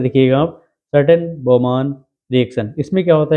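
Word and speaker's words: Schotten-Baumann: इसके बाद आती है स्कॉटन बोमॉन रिएक्शन। ठीक है, नाम थोड़ा सा डिफिकल्ट है। SCHOTTENBAUMANN, ये इसकी स्पेलिंग है, थोड़ा ध्यान से लिखिएगा आप। Certain बोमॉन reaction.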